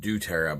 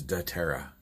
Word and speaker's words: dōTERRA: myself da terra um it sounds like it may have came out duterte but no the proper pronunciation is da terra have a great day